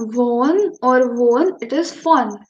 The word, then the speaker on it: von: It is not von or won, it is von. V is pronounced as for in German.